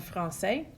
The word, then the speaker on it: français: The cedilla, it only exists on a C, and what it does is changes the pronunciation from a hard C sound like a K to a soft C sound like an S.